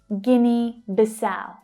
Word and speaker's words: Guinea-Bissau: Guinea-Bissau, Guinea-Bissau, Guinea-Bissau. So the stress is on the last syllable in the second word. It's the ow, as in now, vowel sound.